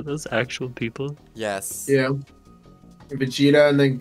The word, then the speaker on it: Vegeta: got goeta and V I like that you're pronouncing both of those terribly wrong are those actual people yes yeah Vegeta and then Gogeta is